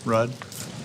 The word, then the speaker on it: Ruud: your last name r-u-u-d how you pronounce it Road Rudd okay judgment Mr Raj